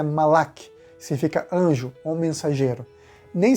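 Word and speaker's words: מלאך: A palavra hebraica para anjo é a palavra malak. Me perdoe se a pronúncia não estiver muito correta, mas é malak, significa anjo ou mensageiro.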